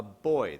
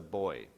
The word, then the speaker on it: buoy: So was thrown into the sea with a buoy. This is a buoy. We say buoy, Americans say buoy. But it's buoy. Because it's buoyancy. That's where the word comes from. We don't say buoyancy. Americans ruin everything.